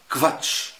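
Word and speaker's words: Quatsch: زي على سبيل المثال اشهر كلمه نعرفها كفاتش، يعني كلام فارغ، كفاتش، او بكفين، او كفيلا، كلمات او كفاليتيت، جوده. هتلاقي دايما ان الكو او يتنطق في الالماني كف كف، ركز فيها. طيب معانا بقى نيجي لنطق الاس.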